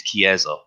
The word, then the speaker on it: chiesa: If you're making reference to an Italian church, the way to say it is chiesa, is the Italian word for church. Thank you very much. Chiesa.